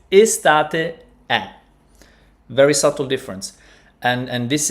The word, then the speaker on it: è: While in fact, E is pronounced open. Estate è, right? It's not estate e. It's estate è.